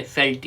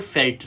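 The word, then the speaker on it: veld: में south Africa में इसको फेल्ट कहा जाता है ठीक है फेल्ट या वेल्ड भी कुछ लोग प्रोनाउंस करते हैं तो इट्स कॉल्ड फेल्ट राइट तो दिस वाज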